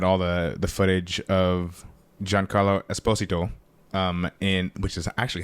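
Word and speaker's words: Giancarlo Esposito: surprised they had all the the footage of John Carlo Esposito um in which is actually how you say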